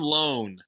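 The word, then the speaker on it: Lone: is saying the words his name rhymes with like cone phone and Bone hell this is my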